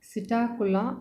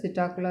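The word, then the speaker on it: Psittacula: i told you that sitakula is a generic name the first letter of this subtacular that means p here p is silent p is written in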